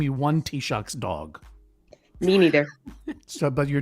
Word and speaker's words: Taoiseach: How do you pronounce the name of the equivalent of the Prime Minister of the Republic of Ireland? Not the name, but the title. The Taoiseach.